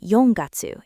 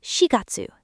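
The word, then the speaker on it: shigatsu: April isn't yongatsu, it's shiatsu, the shei reading.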